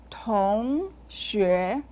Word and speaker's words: 同学: I'll pronounce the syllables of 同学 slowly for you. Te, ong, tong, second tone. 同, xi, yue, xue, second tone, xue. Now, let's say 同学 together. 同学.